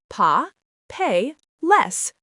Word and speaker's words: papeles: Papel becomes pa, pe, les, 3 syllables instead of 2.